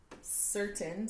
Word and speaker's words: certain: the rule for C-E, the letter C says the S sound when followed by an E, I, or a Y. So it's followed by an E, so it's a soft C sound. Certain, so you hear the S.